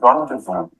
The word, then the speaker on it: rendezvous: Z as in rendezvous, which means appointment.